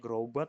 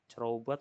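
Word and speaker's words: Crobat: Bacanya Grobat enggak pakai bukan cerobat, Pak.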